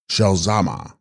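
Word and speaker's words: ཞལ་ཟས་མ: hybrid of text corresponding Tibetan zal zma pronounced shalama she holding sweet meats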